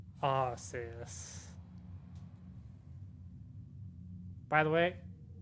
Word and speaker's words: Arceus: that which humans call aussius by the way i'm going with the pronunciation of how the romanji or the katakana the original japanese pronunciation of arceus deal with it deal